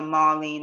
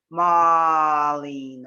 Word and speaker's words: Marlene: sounds it's fairly similar marlene and people have a way of pronouncing my name they emphasize different marlin and you know it's